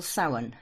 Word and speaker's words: Samhain: Then the next one we call Samhain, which is spelled Samhian, and it's Halloween.